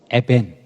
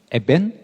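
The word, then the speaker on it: אבן: 그래서 히브리어 발음으로 아들은 벤, 그리고 돌은 에벤. 그러니까 발음이 똑같아요, 거의. 에벤, 벤.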